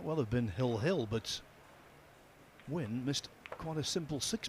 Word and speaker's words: Nguyen: have been hill but win missed quite a simple six ball is that how you pronounce it Phil win when it's ng G U Y E N.